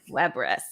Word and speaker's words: WEBRIS: he is the founder of the florida base web risk is that did i pronounce that correctly you got it webriss love it um the agency is actually focused